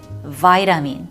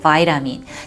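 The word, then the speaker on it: vitamin: 다시 한번 정리를 해볼게요 자 비타민 할 때는 발음을 파이 라민 그저 y 라미 요러한 비타민제 영양제 어떤 보충제 라고 할 때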